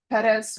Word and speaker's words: Perez: All right, the party's on uh Perez. Yes, sir. I know I keep pronouncing the last name different every time, Deputy Laura. No, that that was very good, it's Perez.